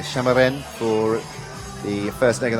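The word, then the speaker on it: Šamorín: Cup here in shimmerin many of you probably pronounced summer in that I understand the local pronunciation is a shimmer win for the first leg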